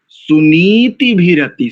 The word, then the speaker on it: सुनीतिभिरति: सुनीति ऐसा नहीं करेंगे, भीरति ऐसा भी नहीं करेंगे। सुनीति भीरति, सुनीति भीरति, सुनीति भीरति। करो एक बार इसका उच्चारण शब्द का केवल।